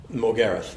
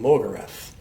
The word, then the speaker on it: Morgarath: And they engage with Morgareth, or as I've had to become used to calling him, Morgarath. In Europe they call him Morgarath, and in America the same. We have this thing of putting the emphasis on the first syllable, but Morgarath.